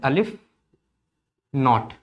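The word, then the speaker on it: aleph-naught: ये अलिफ नॉट होता है, इसको प्रोनाउंस ऐसे करते हैं, अलिफ नॉट।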